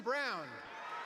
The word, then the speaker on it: Braun: He's a good floor spacer, and the way that Braun is pronounced Brown, is it really?